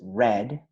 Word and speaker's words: read: present is read and the pronunciation in past is red but the spelling is exactly the same and we also have